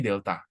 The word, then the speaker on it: delta: Jadi, segitiga ini dibacanya delta.